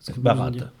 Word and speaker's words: Barat: celle Roche-Bardière et celle Barra, alors? Barat. Barat, pardon. Oui, alors, prononce toutes les lettres.